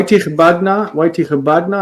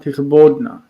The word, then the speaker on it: תכבדנה: Why tichbadna and not tichbodna? Because it's a stative verb. The statives tend to take a in that syllable.